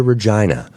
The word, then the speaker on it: Regina: And I wrote I made this big sign that said, "Welcome to Regina." which rhymes with fun.